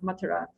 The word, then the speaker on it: Mathura: And usually we hear that Krishna was born in Mathura, or Mathura is the more correct pronunciation.